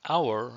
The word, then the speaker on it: hour: I waited an hour for John to meet me. The H is silent.